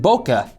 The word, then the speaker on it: bokeh: videos and photos and how I incorporate some bokeh.